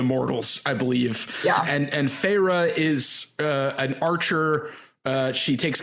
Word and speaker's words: Feyre: How do we pronounce her name? Feyre. Yeah, I was going to say that's how it's in the audiobook. Feyre, like Archeron.